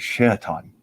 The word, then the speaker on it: Shaitan: His name of power is not Satan, but Shaitan.